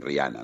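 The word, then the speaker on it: Rihanna: muchísimo éxito La verdad rijana sí este yo la llamo rijana porque por algún motivo Supongo que la H habría que que pronunciarla Pero bueno todos dicen riana no sí es cierto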